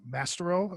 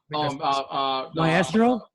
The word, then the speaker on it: Maestro: There's Mastro, or did I say it right? The older Hulk. Gray Hulk. There's Gray Hulk, but then there's Mastro, I think. Maestro. Maestro? Maestro. Yeah.